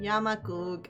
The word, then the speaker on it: Yamaku: Yamaku Academy.